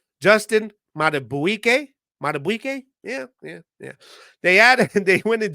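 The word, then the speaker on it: Madubuike: You got defensive tackle Justin I got to pronounce this right. Justin Matabuike.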